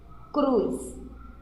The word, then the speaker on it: cruz: Cruz. Cruz tem um som de S, aqui tem um som de S, mas se escreve com a letra Z.